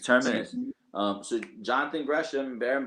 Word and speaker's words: Terminus: Is that how it's pronounced? Tremonus or Terminus. Terminus? Excuse me. Yes, Terminus.